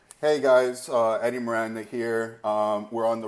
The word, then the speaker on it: Eddy: is your name Edi? No, it's not Edi, it's Eddie.